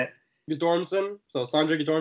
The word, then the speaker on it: Guttormsen: Sandra's Andre say your last name I can't pronounce it how do you say it you dorsum so songs are good or instant and then